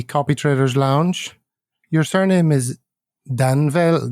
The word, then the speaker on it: Danvel: Your surname is Danvell, not pronounced Danvell.